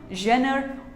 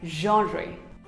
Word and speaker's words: genre: It is not genre, not even genre. It is pronounced as genre.